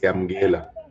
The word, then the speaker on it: Yamkela: Why should I support, is it Yamkela? Am I saying it correctly? Yes, it's Yamgela.